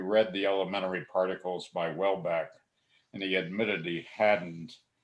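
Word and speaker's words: Houellebecq: a flemish origin so it is pronounced welbeck or welbeck but in french it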